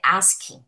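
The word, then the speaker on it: ASCII: Então é e em inglês a pronúncia que a gente fala é ask. Ótimo, gente. Então isso aqui a gente fala ask.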